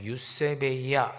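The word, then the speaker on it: εὐσέβεια: 오늘 읽었던 5절 말씀에 나오는 경건이라고 하는 단어는 헬라어로 발하면 유세베이아 이렇게 발음합니다.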